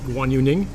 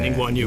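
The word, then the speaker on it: Ning Guangyu: Against Guan Yu Ning. Is that how I Ning pronounce Guang it? Yu. Yeah. Ning Guan Yu.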